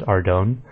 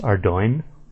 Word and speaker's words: Ardougne: The first one is probably the most famous difficult word to pronounce, which is, I always said Ardougne, but it's actually pronounced Ardougne. So that'll take a little getting used to, but it's not too bad.